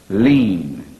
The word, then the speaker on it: lien: It's spelled L-I-E-N, lean, unalienable rights.